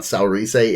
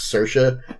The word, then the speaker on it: Saoirse: It's not Saoirse, it's Saoirse, because fucking Celtic.